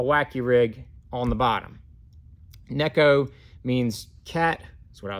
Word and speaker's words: Neko: Japan but that that Nico rig or Neko rig Neko is the proper Japanese pronunciation as I'm as I'm